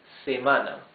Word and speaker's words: semana: In Spanish, week is semana. Se-ma-na. 3 syllables. And the accent goes in the second syllable.